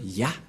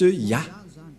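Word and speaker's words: יה: Cette forme se prononce Ya, que vous venons de lire. Voilà. Et puisque nous avons déjà vu cette forme, Yod, He, qu'on prononce Ya.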